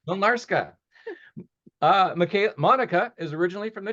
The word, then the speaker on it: Mlynarska: Mlynarska. Mlynarska.